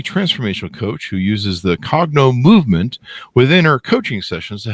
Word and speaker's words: Cognomovem: coach a uh what do how do I pronounce this uh correctly Katie a cogno movement you got it yep perfect cogno movement practitioner